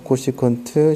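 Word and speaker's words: cosecant: cscot 이렇게 나오는데 CSC는 코시컨트라고 읽어요. CSC라고 읽지 않아요. SAC는 시컨트, COT는 코탄젠트 요렇게 옵니다. 그래서 코시컨트, 시컨트, 코탄젠트라고 읽어요.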